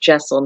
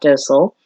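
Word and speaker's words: deosil: that direction for jaisal i know it's a it has a d but i've been reliably informed it's pronounced jaisal not docile don't ask me why it's just what i've read and then we underneath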